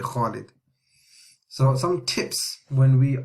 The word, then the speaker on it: Khalid: Like English people, they say Khalid. They say Khalid. They don't say Khalid, but it's actually Khalid.